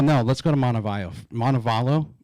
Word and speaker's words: Montevallo: Montevallo Montevallo Montevallo Montebello I speak Spanish like pretty fluently right so when I see the Double L I want to say value right right that's the correct way to say it um so you go